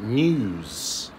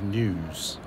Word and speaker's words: news: So a lot of people make the mistake of using a hard U when they should be using a soft U. Okay, and it doesn't sound so good. It doesn't sound right, and it's not correct. Okay. So, for example, the best example is the word news. Okay. Now, news doesn't have a U in it. It has an EW, but people pronounce it sometimes as news.